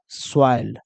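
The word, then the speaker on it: soil: कहिएगा सर कैसे, तो देखो ओ आई है, ओ आई के पहले देखो क्या दिया है, एस, तो यहां पर स लगा दो, इसका प्रोनाउंसिएशन क्या हो जाएगा, स। और लास्ट में क्या है, एल, तो इसको ल लगा दो, क्या बन जाएगा, स्वाइल।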